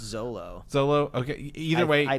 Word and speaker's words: Xolo: It's XOLO. I believe it's just Zolo.